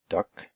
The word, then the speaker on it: duct: we go duct tape sometimes just see those pronounced as duck or with the T duct tape but really I think